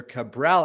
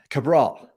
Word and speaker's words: Cabral: I didn't even ask you the correct pronunciation of your name, Doctor. How do you say it? That is correct. Yeah, Dr. Cabral. Cabral.